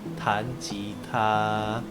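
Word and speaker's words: 弹吉他: Nah, bermain gitar di bahasa Mandarin itu kita bacanya tan jita.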